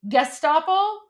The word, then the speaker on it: Gestapo: Oh, is it a hard G? Gestapo? Yeah, Gestapo. Yeah. Oh, guys. All right. Thank you. Guys, my immigrant came out. There you go. Yeah, hard G.